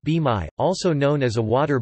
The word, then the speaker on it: bain-marie: A bain-marie, pronounced b-mai, also known as a water bath or double